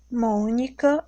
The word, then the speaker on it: Mônica: Na palavra Mônica. Mônica, eu tenho o som fechado. Então, é acento circunflexo.